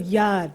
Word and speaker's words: yard: house the concept of yad pronounced with a long a and muted are bespeaks a sense of